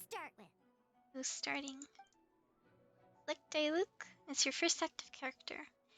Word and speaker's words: Diluc: Diluc? No, it's Diluc.